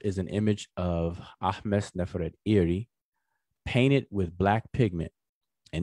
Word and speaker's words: Nefertari: To the left is an image of Ahmes Neferet Iri, which is her name, but we pronounce it conventionally as Ahmos Nefertari.